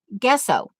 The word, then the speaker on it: gesso: believe I learned about how you were supposed to pronounce guesso like in Guess Who guesso and you guys would